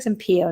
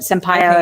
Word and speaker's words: Sampaio: Valentino Sampaio, I believe is how you say her last name, Sampaio. It looks like Sampaio to me, but Sampaio is how people are pronouncing it.